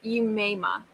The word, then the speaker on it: Umaima: I believe it was Umaima. Oh, okay. Umaima. Okay. It was like UU-MAI-MA. I believe that's how it was pronounced.